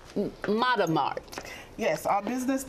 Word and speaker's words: Matamart: me say it right sarah galloway here correct mother mart yes our business name is matamata and it